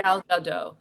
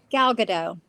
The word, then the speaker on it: Gal Gadot: Gal Gadot. Yeah, Okay, yeah, Gal Gadot.